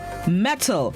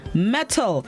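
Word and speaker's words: mettle: Metal. It's spelled M-E-T-T-L-E. Metal.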